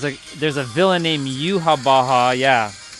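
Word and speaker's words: Yhwach: there's a villain named Yuha Baja. Yeah, it's not spelled like the way you the way it sounds, just so you know.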